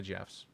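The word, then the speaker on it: Geoff: no I knew a g off no you did not there's no go offs there's only Jeffs you can say it's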